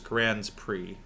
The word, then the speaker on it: Grand Prix: be obnoxious now is Grand Prix um like Attorneys General um wait is it actually yeah Grand PRI gr Prix um no one actually says that but that is the correct pronunciation um never even knew